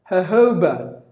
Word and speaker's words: jojoba: day here but then the pronunciation is sounds like the J is replaced with the H sound just a merchant take the days off Tuesdays and then put two H's first and the second ha ho bah jojoba jojoba that's our phonetic transcription seis but then you gotta give the stress on the second syllable jojoba jojoba ho jojoba it's a it's an